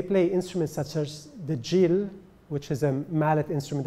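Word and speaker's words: gyil: And interestingly enough, when they play instruments such as the djil, which is a mallet instrument that looks like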